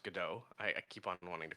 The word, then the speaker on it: Godot: we used an engine called Godot, and or sorry, no, it's pronounced Godot.